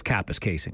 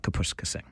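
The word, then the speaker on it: Kapuskasing: the story, but for Capis casing, Kapuska Singh cuz that's how this news anchor allegedly said it back in the day. But it is Capis Casing. Of course, it's not Capuscasing.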